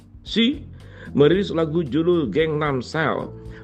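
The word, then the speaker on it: PSY: penyanyi Korea Selatan yang bernama si bacanya PSI ya si merilis lagu judul geng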